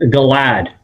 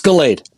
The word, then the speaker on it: Galade: Uh, this is Galad. Did I pronounce that right, sir? You're close. It's Galade.